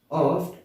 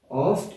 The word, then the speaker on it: oft: Oft a little morning rain. Oft is basically a short form used for the word often. The T is silent mostly.